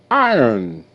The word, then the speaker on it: iron: button icon okay icons iron I I ER n iron o is silent and you have a